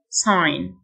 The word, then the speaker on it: sign: run ran run لافتة sign الG silent sign لوح التزلج skateboard skateboard